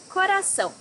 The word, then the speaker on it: Coração: Coração, heart. This word may be hard for you because of the R-A, ra, and the C-A-O, são.